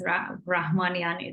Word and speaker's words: Rahamanian: Is that Rahamanian? Is that pronunciation? Well, most people Close. in US just say Rahmanian, but yes, Rahmanian is the right way of pronouncing it.